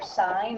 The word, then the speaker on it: sine: with three letters so the abbreviation for sine is always sis but it's just pronounced sine not sin the abbreviation for cosine